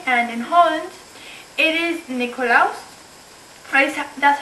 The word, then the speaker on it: Nikolaus: video, I'm going to be doing a sort of different video, because today in Germany and in Holland, it is Nikolaus.